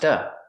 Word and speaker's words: to: To is pronounced duh. A fast D.